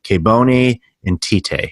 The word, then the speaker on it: Kebone Nthite: Today I've got an awesome guest I know you're going to enjoy, Kebone Nthite. Now I'm going to have her pronounce her name properly instead of the mixed up American Canadian English that I use.